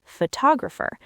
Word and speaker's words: photographer: For example, we say photograph, but photographer.